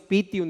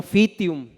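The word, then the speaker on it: Pythium: fitora y pium pium les invito a que digamos pium y no fium porque si fuera fium tendría que escribirse con pH y no se escribe Así es pium no es fium Y entonces los factores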